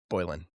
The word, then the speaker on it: Boylan: Remind me how to pronounce your last name. Is it Bolan? Yes. Bolan.